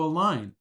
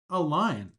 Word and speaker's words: align: Next, we have the verb to align, and the pronunciation for this verb is align. Align. Don't be confused by the G.